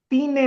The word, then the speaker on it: tiene: cerca de mi casa tiene नहीं, क्या लिखा हुआ है? तीने, तीने नहीं, लफ्ज है tiene।